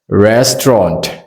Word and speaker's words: restaurant: po hi ori kha patni chau turani two syllables restaurant ti mai turni le thiamem ti chuanin hei